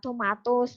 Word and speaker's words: tomatoes: Tulisannya memang tomatoes ya, tapi untuk baca biasanya apa ya? Tetap sama, tomatos.